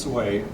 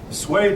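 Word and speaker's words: Sui: sway now this word according your book is pronounced sway sway dynasty united china now there are four dynasties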